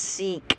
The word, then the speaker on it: Sikh: Alright, it's pronounced Sikh.